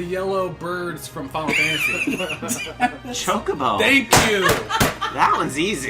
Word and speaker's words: Chocobo: Chocobo. Thank you. That one's easy. That's because that's What's what they're the other called. pronunciation? Say it. Kokobo. It's not Kokobo, you monster.